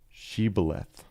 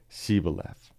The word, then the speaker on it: Shibboleth: If the man said, "No, I am not," they would tell him to say Shibboleth. If he was from Ephraim, he would say Sibboleth, because people from Ephraim cannot pronounce the word correctly.